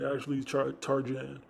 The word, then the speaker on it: Asli Tarcan: Asli Tarjan, and they said they could do it for 1,700.